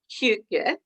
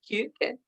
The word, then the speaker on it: Hygge: And when I decided that I wanted to do a service on, and you've just been teaching me how to say it properly, so I will try, Hygge, Hygge.